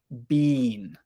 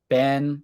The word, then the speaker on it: been: be pronounced different ways many British people pronounce it more like bean bean but for most American people we usually pronounce it more like Ben or bin bin Ben Ben Bean